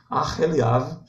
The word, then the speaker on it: Aoliabe: Em hebraico também o re ele é pronunciado, é o H, né? Aqui a gente ignora homem, ora, passa por cima, ignora o H, mas em hebraico o H é pronunciado, né?